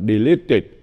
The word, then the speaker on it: deleted: United States congress deleted cái này phải đọc là deleted vì chữ ed nó sau chữ t deled and3 no Justice